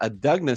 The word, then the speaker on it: Adugna: Family members say that the uh Adugna sisters is how you pronounce it.